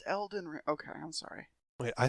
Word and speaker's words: Elden: pretty much nothing but Alden ring oh it's pronounced Elden okay I'm sorry wait